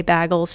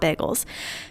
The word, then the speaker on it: bagels: pickles breads Bagles Bagels gosh I pronounce that wrong every single time I know I do but I say Bagles not Bagels pizza crust vegetable broth